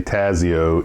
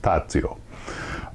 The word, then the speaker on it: Tazio: in the know that even though in english we'd say tazio in italian it's pronounced tazio um i am so